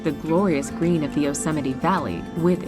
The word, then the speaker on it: Yosemite: She didn't know it's pronounced Yosemite. So it's just one of those things. If you haven't heard it before, you haven't seen it written down, it can be a little difficult to say. Yosemite.